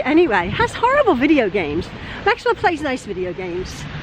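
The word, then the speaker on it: Gamez: It's like Truelove Gomez, but I pronounce it Games.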